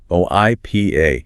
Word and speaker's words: HIPAA: HIPAA, spelled h i p a, pronounced h i p uh. HIPAA.